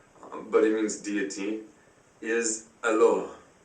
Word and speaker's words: Allah: The Aramaic is Allah, but without emphasizing the L. Hence this one L without a dot. Allah. It can also be pronounced Allah. The Arabic word is Allah. The difference is mainly the elongation of the L, Allah, as opposed to Allah.